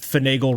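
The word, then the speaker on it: finagle: Vibe 1 hour and 33 minutes later comes back with finagel rhymes with bagel.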